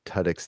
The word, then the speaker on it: Tudyk: Like two dicks. Like having two dicks. That's why I said it was Tudyk.